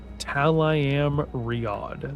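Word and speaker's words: Tel'aran'rhiod: Oh, uh, Talam Riod. That's how it's pronounced.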